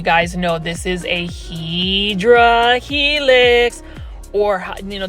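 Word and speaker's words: Hedera helix: know this is a HRA helix or you know the correct way to pronounce it is hadera helix or English ivy this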